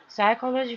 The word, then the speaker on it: psychology: 소제목, Psychology for Everyday Life 한번 읽어보겠습니다. 일상생활 속에 psychology라고 되어 있는데요. 심리학이라는 단어입니다. 여기 앞에 있는 P는요, 묵음입니다.